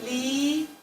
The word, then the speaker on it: литература: Okay, американская литература. Clearly. No rush. Litera. What's the next syllable?